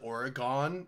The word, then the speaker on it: Oregon: just a pronunciation thing everyone on the East Coast calls it Oregon it's Oregon just saying this is par